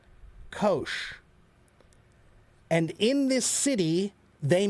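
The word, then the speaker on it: Kocs: It's pronounced Kosh. Kosh.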